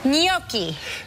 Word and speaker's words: Gnocchi: Gnocchi. G-N-O-C-C-I. You forgot the H. G-N-O-C-C-H-I. Oh, okay. Gnocchi. Yeah. Okay. Yeah. Right. If it was C-C-I, it would be pronounced gnocchi.